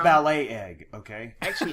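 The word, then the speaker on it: balut: you shane huevos it's called ballot egg it's pronounced ballet egg okay actually it's b-a-l-u-t oh so it's like ballot like a i guess like almost you'd say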